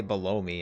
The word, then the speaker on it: Bellum: You call, some people say below me. I'm like, that just sounds weird. I just call him Bellum. Like, you see the bell and then the om.